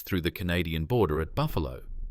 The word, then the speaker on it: Buffalo: In November 1971, Vulov entered the United States through the Canadian border at Buffalo, pronounced Buff Alo, New York.